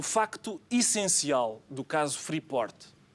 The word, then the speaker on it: Freeport: T guarda sempre, esconde, não digas o T. Enfim, parece impossível que um político que tanto se tem batido pelo ensino do inglês não seja capaz de pronunciar corretamente uma palavra inglesa. É freort. Freeport.